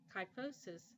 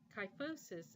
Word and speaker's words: kyphosis: can cause severe diarrhea kyphosis is an abnormal curvature of the spine you want to note that pH in kyphosis is pronounced with the F sound and finally quadriplegic means